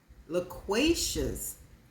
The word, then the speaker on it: loquacious: I'm back the word I could not pronounce is spelled l o q u a c i o u s it is an adjective tending to talk a great deal talkative theous loquacious one more time loquacious okay and there we